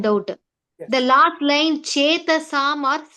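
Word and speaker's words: चेतसाम्: The last line, Chetasam or Setasam?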